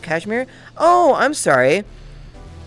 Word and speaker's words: Kashmir: Hi, it's actually pronounced Kashmir.